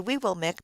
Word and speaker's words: Weewillmekq: The correct pronunciation is very early Weewillmekq for both Penobscot and Passamaquoddy, but this would be